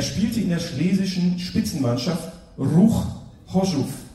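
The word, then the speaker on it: Ruch Chorzów: Und er spielte in der schlesischen Spitzenmannschaft Ruch Hoschuf. Habe ich richtig ausgesprochen? Richtig.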